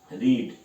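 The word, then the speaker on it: read: डिड ही रीड। अब रेड की भी स्पेलिंग यही होती है, रीड की भी होती है, लेकिन प्रोनाउंसिएशन फर्स्ट फॉर्म के अकॉर्डिंग निकलेगा।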